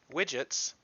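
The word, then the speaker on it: widgyts: I'm using pip here widgets which is spelled in this particular case w-i-d-g-y-t-s in a delicious pun is a YT specific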